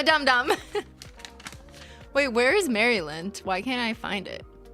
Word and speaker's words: Maryland: I feel like we've gotten so many letters from Maryland and we don't pronounce it Maryland. I know it's like Maryland like Marilyn Monroe, right?